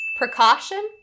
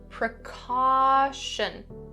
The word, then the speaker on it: precaution: Number 12 : Precaution and precautionary. The first thing for the pronunciation for both of these words is upon the /ʃ /sound, "precaution". Don't change that /ʃ/ to a /s/sound, don't say /prɪ-ˈkɔː-sn/.